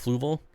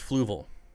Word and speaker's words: Fluval: them down to your your seven ph it's pronounced fluval it's pronounced fluval i got tropica aqua soil and co2 injection